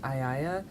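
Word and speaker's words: Aiaia: I believe it's pronounced Aiaya. I think that's how Madeline Miller pronounced it.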